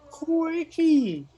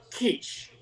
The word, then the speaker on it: quiche: did i do i just asked for a quickie here on the menu now mr handsome in the first booth still slurping his peaches excuse me sir you know it's pronounced quiche it's not a tart it's made of cheese